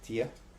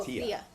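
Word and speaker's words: Theia: Um, is it Tia, Tethus or are you talking Oh, Thea. Thea.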